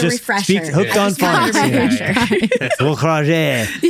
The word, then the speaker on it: Gaukrodger: As an Australian, we say Gaukrodger. Gaukrodger. If you say it as an American, you say Gaukrodger. Gaukrodger. And then if you say it how it's actually meant to be pronounced, which nobody does because we're Australian, it's German and French and it's Gaukrodger.